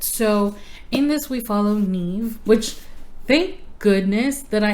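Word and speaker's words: Niamh: I can show you the way that Neeve is actually spelled because let me tell you that's not how I would have pronounced it let me see if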